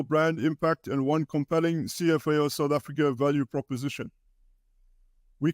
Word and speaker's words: CFAO: make sense of it cfao is pronounced as it says cfao and not Safar cfao stands for Corporation